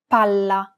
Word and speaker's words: palla: Palla. Remember how Italian is a syllable-timed language? Imagine that you're holding that consonant sound for one extra syllable.